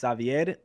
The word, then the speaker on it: Xavier: discord it's uh xavi xavier yeah yeah just because so in spanish my name is pronounced savier so uh what my